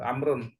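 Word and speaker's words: عمرو: Amru at amrun amrun jadi kata amrun itu ada wau di belakangnya sini ya Kenapa untuk membedakan Amr sama Umar kalau wwya dihilangkan dia jadi Umar kalau ada wwya dia dibacanya amrun ya pertama wunnya Amar kedua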